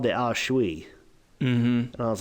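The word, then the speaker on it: aos sí: spiritually and she mentioned this thing called the ashui and I was like what the how what um it's spelled a-o-s-s-i it's pronounced the ausshui I thought this was really cool she said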